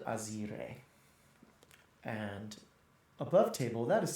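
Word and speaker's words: Azyrre: She was called Azer. And above table that is spelled A Z Y R R E.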